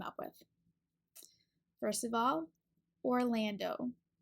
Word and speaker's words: Orlando: first of all Orlando for the first syllable you want to have your lips in a round circle for the o and then we can attach that R to it or Lan is the second syllable so for the L your tongue is behind your top teeth pull and this a sound is ah like apple it's open in the back the last syllable is